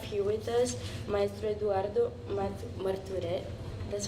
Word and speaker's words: Marturet: And then today we have here with us Maestro Eduardo Marturet.